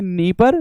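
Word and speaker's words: Dnieper: पूछा भी गया था इस नदी का नाम है नी परर लेकिन इंग्लिश में पढ़ोगे तो डी डी साइलेंट है तो नी परर रिवर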